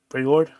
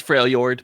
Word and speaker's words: Freljord: Freylord? It's Freljord, but Freljord. yeah, it's a J after the L.